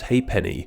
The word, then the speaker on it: halfpenny: F in it is Halfpenny which in British was pronounced as ha'penny though as a Brit